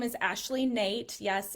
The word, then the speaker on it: Noethe: So, like I said, my name is Ashley Nate. Yes, it's pronounced Nate.